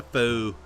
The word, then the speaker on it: faux: That's going to be a chimney, and well, it's a faux chimney. The X is silent.